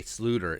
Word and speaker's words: Sloter: some kyle jerome ezekiel slaughter aka sluter it's a dutch pronunciation uh he was a